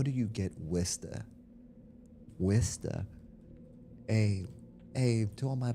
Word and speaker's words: Worcester: It's spelled Worcester. How do you get Worcester?